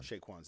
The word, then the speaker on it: Chez Quan's: But it's pronounced Chez Quan. Chez Quans.